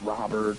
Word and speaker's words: Robert: It's pronounced Rober. Next to hit, Paul. Someone can tell me, you know, how it's pronounced if it's Robert or whatever.